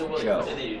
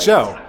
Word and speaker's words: Zhou: Actually, his last name's pronounced Zhou. Like, Zhou.